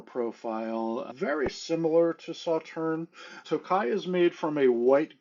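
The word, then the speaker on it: Tokaji: And the first thing we are going to talk about is a wine that is called Tokai. That is spelled T O K A J I.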